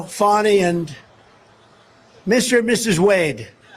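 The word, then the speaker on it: Fani: funny it's spelled Fanny it's spelled Fanny like your ass right Fanny but when she became da she decided to add a little French a little Fancy funny funny and you know fonny and Mr and Mrs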